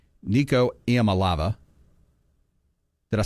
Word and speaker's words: Iamaleava: Nico Iamaleava. Did I say that wrong again? How do you say it? Iamaleava.